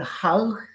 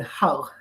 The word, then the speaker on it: Hull: founded in 2012 in hull hole in the uk and if i mispronounce it yes holy you drop the hitch as a first of all